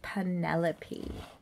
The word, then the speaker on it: Penepole: round and that includes getting my name right it's p n e p o l e please pronounce it precisely Penelope okay loving that beautiful